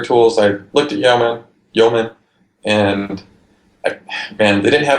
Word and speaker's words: yeoman: how you pronounce it I would say yau-man int omen its yeoman you know young man young man argument yo man what's